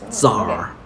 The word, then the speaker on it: tsar: iraq is in iraq also became tsar the sea does not pronounce so oh yeah zar all the way over